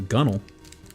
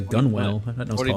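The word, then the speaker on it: gunwale: secure ropes or lines to gun along the gunnel what called that a gun whell pronounced gunnel I already found it I when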